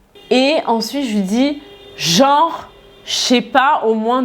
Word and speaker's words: genre: Et souvent, on va le prononcer rapidement. Donc, en fait, on va pas dire genreux, on va dire genre. Limite, c'est genre J-O-R, quoi. Genre.